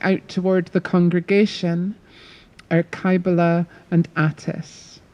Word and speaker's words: Cybele: I'm just going to say there's a lot of different pronunciations of Kaibala. I'm going to use Kaibala. It's often anglicised as Cybele, and if I had Greek, I would be able to pronounce it a lot better for you, but I can't. So I'm going to go with Kaibala.